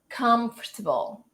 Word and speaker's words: comfortable: So comfortable, comfortable. It happens the same thing as the other one because the stretched syllable is the first one, all right, in both of them.